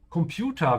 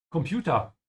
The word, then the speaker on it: Computer: This is one of those words where it's okay to pronounce it in English because a lot of Germans do that. It's borrowed from English. So even though technically it's also correct to say Computer, you will find a